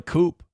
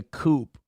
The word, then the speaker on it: coup: I tell you, what a coupe. She said she said they were planning a coupe and there was a guy named Thomas in the story.